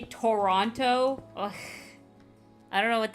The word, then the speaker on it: Toronto: And it's like genuinely, people like say it like that in America. Toronto. Nah, man, it's Toronto. Nobody here says it with all the T's.